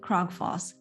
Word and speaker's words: Krogfoss: part on this show I'm glad that you uh pronounced my last name uh really good because most people butcher it so uh thank you